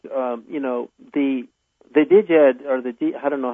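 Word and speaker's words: Djed: Like, the Diged, or I don't know how you pronounce that, because I just learned Jed, like Jedi, like the George Jed Lucas, is, Return of the I Jedi.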